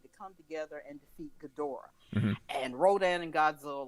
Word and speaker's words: Ghidorah: kong i've watched and this can be pronounced any number of ways that brent brandon tencott said on one of his episodes gadora getaway guy whatever but i call it ghidorah the three-headed monster that's how i know it is ghidorah yes yeah but in